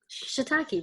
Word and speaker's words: shiitake: a key how do you say that Shh shiitake right yeah shiitake mushroom like mushrooms at all oh wait I